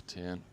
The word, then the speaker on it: Tien: Yes, so Tien, okay.